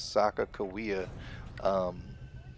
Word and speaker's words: Sacaqawea: wrong it's it's it's it's pronounced right it's known as Sakakawea you know I don't